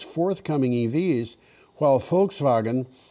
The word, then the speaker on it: Volkswagen: pronounce Honda right but I know how to pronounce Volkswagen I should I should pronounce it l a little more carefully foxwagen both announced plans to